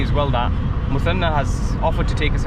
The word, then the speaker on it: Muthanna: So guys, we've been picked up by my good friend Muthanna, right? Yes, that's how you pronounce it? Yes. Muthanna here.